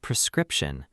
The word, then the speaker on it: prescription: And prescription. Precript shun. Notice the stress is on the second syllable.